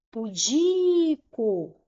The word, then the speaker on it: pudico: Pudico. O di é a sílaba mais forte, é a sílaba tônica, então é uma palavra paroxítona, ok?